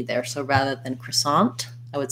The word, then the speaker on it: croissant: uh maria's following up she was expecting to hear a stop t in the croissant um yes sorry i should have specified that so if i'm saying a word with a t by itself croissant i might let that t release if i'm saying it